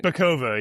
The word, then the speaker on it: Bacova: Bacova? How do you pronounce that? Did I get that right? Bacova, yeah.